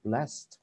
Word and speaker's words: blessed: Thì nếu không muốn dùng chữ fortunate này thì dùng chữ blessed. Blessed. Bạn nhớ nhé, chữ động từ bless thêm ed vào. Ok, ed đọc là chữ thở. Ok, chữ t, chữ thở.